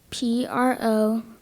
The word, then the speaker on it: provolone: P-R-O-V-O-L-O-N-E. Correct. Of course, provolone, probably the more common pronunciation, but the N-E-Y syllable on the end of that.